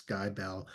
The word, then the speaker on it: Skibell: But because we grew up because the stores were everywhere, and everybody in our hometown of Lubbock knew how to pronounce Skybell, I think I left